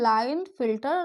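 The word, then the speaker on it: Klinefelter: लाइन फिल्टर syndrome syndrome देखिए के यहां पर साइलेंट होगा। इसको पढ़ते हैं लाइन फिल्टर सिंड्रोम और यहां पर हमारा आता है डाउन सिंड्रोम।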